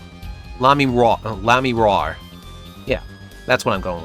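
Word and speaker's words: Lamiroir: Lammy Raw's singing, right? The siren of the ballad? Lamy Wua? Wua? Sorta. Like, it's got a rhyme with noir. Lamy Raw.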